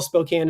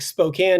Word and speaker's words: Spokane: The Northwest is gorgeous, but uh overall Spokane as a city has uh I abandoned it for a reason.